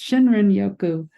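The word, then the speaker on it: Shinrin-yoku: We just started diffusing the Shirin Yoko. That's Shinrin Yoku.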